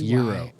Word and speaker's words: gyro: seen your euro or g euro gyro it's pronounced euro i thought it was guy jackson's euro well